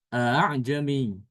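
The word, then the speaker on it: أَأَعْجَمِيٌّ: Jadi dibacanya bukan a a'jami ya, tapi a'jami. A'jami. Jadi hamzah yang keduanya itu dibaca antara hamzah dengan alif ya.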